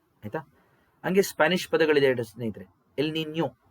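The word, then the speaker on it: El Niño: ಹಂಗೆ ಸ್ಪಾನಿಷ್ ಪದಗಳಿದೆ ಸ್ನೇಹಿತರೆ ಎಲ್ ನಿನ್ಯೋ ಲಾನಿನ್ಯ ಎಲ್ ನಿನ್ಯೋ ಅದನ್ನು ಹೇಳ್ತೀನಿ ನಾನು ನಿಮಗೆ ಎಲ್ ನಿನ್ಯೋ ನೋಡಿ ಆ ಪದಗಳ ಉಚ್ಚಾರಣೆನೇ ಗೊತ್ತಿಲ್ಲ ಎಷ್ಟೊಂದು ಜನಕ್ಕೆ ಎಲ್ಲಾ ಎಲ್ಲಿನೋ ಅಂತಾರೆ ಎಲ್ ನಿನ್ಯೋ ಯಾವತ್ತು ಯಾವತ್ತು ಕೊಡಬೇಕು ಅದು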